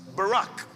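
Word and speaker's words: בָּרַךְ: The word translated there as blessed is a Hebrew word pronounced barack.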